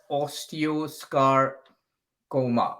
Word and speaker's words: osteosarcoma: a bone cancer and it's pronounced as osteo scar coma i like sarcoma thank